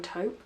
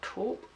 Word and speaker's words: taupe: I have it in taupe, or taupe, however you want to pronounce it.